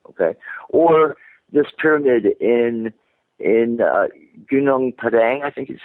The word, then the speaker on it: Gunung Padang: in China, say, okay, or this pyramid in Gunung Padang, I think is how you pronounce it, that Graham Hancock You're asking the wrong person for pronunciation advice. Yeah, I think it's Gunung Padang, and Yeah, it's in good enough for me.